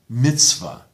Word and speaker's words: mitzvah: So, in, for example, modern Israeli Hebrew, you say Shabbat, and you say minhag, Siddur, emphasis on the last syllable. In Ashkenazi pronunciation, Shabbos, minhag, Siddur, mitzvah, on the second last syllable.